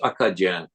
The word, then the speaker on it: Acadian: Akadan, it's pronounced Akajan and Kajan just be somehow became Kajun in case people don't know that.